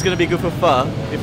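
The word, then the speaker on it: Phở: you all probably know this is fur not pronounced though pronounced fur and it's a very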